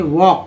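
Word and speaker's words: walk: L silent है, वॉक पढ़ते, वॉक पढ़ते हैं, हालांकि ये जानते हैं लोग वॉक, ठीक है, वॉक, इसका मतलब है कि एल साइलेंट है।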